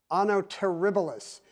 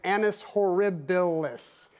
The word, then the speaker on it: annus horribilis: Anno terribilis. No. Mehal, you were just a syllable away. It's annus horribilis. But because you dropped a vowel, you were syllable off and we cannot accept that response.